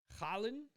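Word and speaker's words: Haaland: going full steam ahead for holland um collin i guess is how it's pronounced not holland we tried to establish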